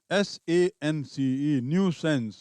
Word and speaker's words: nuisance: Next, NUISANCE, न्यू सेंस, इसका उच्चारण देखेंगे अलग है।